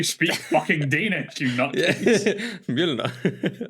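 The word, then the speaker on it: Mjölnir: Mjolnir. Is Mjolnir. Is it? I mean, it Nordics. It doesn't matter. I mean, you'll probably say it the correct way because you speak fucking Danish, you nutcase. Mjolnir.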